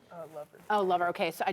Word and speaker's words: Lover: is your last name Lover instead of Love? Did I say it wrong? Lover.